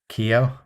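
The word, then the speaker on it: Keogh: name because it's like k-e-o-g-h they call him keo kyo yeah as in like the korean car manufacturer but with an o instead of an a sure it's nice for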